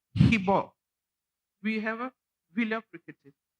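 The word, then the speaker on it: শিৱ: We don't say shiva. We say hibo.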